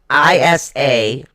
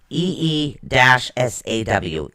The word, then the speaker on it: Isa: Okay, it's spelled ISA. It is pronounced EE-SAW.